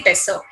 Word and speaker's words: besser: example, es geht mir besser. Es geht mir besser. Besser, we generally say besser. Es geht mir besser. Double S sound will be so only.